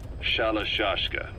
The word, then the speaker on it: Shalashashka: somewhere along the line, Shashka got stuck on the end of Sharashka. The guerrillas were using the name amongst themselves, and by the time I got to hearing about it, pronunciation had wound up as Shalashashka.